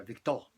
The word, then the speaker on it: Victor: Entonces le puso Víctor, en francés se pronuncia Victor, ¿no?